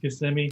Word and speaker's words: Kissimmee: It's pronounced Kissimmee. Kissimmee, of course, Yes.